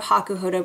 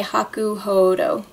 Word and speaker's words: Hakuhodo: name is spelled hakuhodo Haku Hodo is how you say it or actually on their website they say Haku hoo like hoo Haku hoo I feel kind of